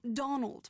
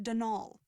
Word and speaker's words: Donal: caretaker denial delaney not donald mind you there's no d at the end so it's pronounced denal that's the way you're